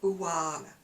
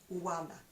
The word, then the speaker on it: Oana: you pronounce her name I think it's aana it's O A N A she does do some lovely YouTube videos Wana she's a little bit